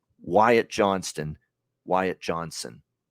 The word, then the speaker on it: Johnston: t in there right there's a t in that last name Johnston Johnston now I know sometimes when you say it quickly it'll sound like Johnson you know but you know if you say it like Wyatt Johnston and maybe the t is not enunciate but it drives me nuts when I hear Johnson for a guy when it's Johnston and I heard that